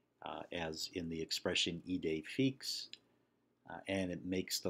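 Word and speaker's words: idée fixe: The acute accent is the accent that rises left to right, as in the expression ide fix, and it makes the letter E pronounced like the English long A.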